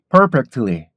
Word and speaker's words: perfectly: 발음이 많이 약화가 되죠 그래서 t 발음이 많이 약화가 되면은 perfectly 이렇게 발음 했다가